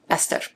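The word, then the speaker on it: Eszter: And going back to SZ, that's why this narrator's name is pronounced Ester.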